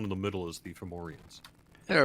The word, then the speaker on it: Fomorian: I was wondering, did I read somewhere that there are going to be Fomians in there? Yes, Fomorian. Fomorians. Yeah, I always Yes. get that name wrong.